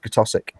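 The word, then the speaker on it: Keswick: read the name it's great zwick but it's pronounced kosic GIC yeah the g b that's the one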